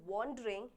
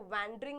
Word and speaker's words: wandering: After 2 hours spent वॉन्डरिंग, इसको वैंडरिंग नहीं बोलते, इसको वॉन्डरिंग बोलते हैं।